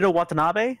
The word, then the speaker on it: Shinichiro Watanabe: pronounce it. Shinichiro Watanabe?